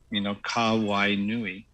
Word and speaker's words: Kawainui: Well, Hawaiian, just like the Filipino language, is very phonetic. And so if you break everything into syllables and you look for the vowels, and you pronounce them, then you're doing, you're going to be okay. So just like aloha, so it's aloha, or Hawaii, right? Or in case of my name, Kawainui.